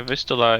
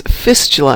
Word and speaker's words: Vistula: Yeah, Vistula is how you pronounce in English that. Name of a main largest river in Poland. Ah. Let's see. I was thinking it was Fistula, and I'm thinking that's really technical.